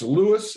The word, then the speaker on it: Lewes: I want to pronounce it correctly. It's Lewes, Lewes.